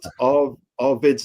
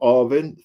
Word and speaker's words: Arvid: We got Arvid's name wrong. We called him Arvin.